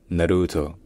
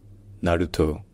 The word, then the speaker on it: Naruto: plutôt sur un o donc finalement ça se prononce Naruto Naruto Naruto bref si jamais il y a d'autres mots